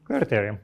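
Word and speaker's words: κληρωτήριον: Clarit as in like clarity. Okay. Clittherium more or less.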